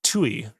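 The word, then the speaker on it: Ptuj: This was in uh PT T U spelled TUI. Oh, no, wait, no, no, no, no. I was wrong. I was incorrect. It was actually spelled uh PT U, which is still pronounced Tui.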